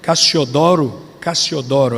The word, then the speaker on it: Cassiodoro: Na Espanha, Cassiodoro Reina, Cassiodoro, a pronúncia certa, Cassiodoro Reina, traduziu a Bíblia para o espanhol em 1569.